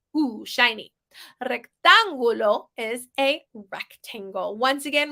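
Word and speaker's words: rectángulo: English rectangular pretty easy right just don't say rectangular because that sounds awful the U says ooh in Spanish like ooh shiny rectangulo is a rectangle once again we see that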